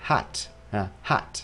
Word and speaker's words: heart: H và đọc là heart heart ăn nhẹ thôi người Mỹ có khuynh hướng đọc nó cứng hơn đọc nó sâu hơn khoảng hoạch Nếu các